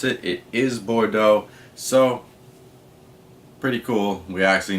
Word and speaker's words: Bordeaux: I actually looked up how to pronounce it. It is Bordeaux.